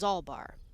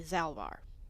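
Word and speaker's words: Zalbaar: Mission says Zalbar. Other people say Zalvar. But Mission said it first.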